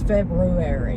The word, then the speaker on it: February: So it's February.